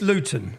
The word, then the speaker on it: Luton: And so anyone if you don't understand Luton Luton see I pronounce my tea there. We don't pronounce our te's.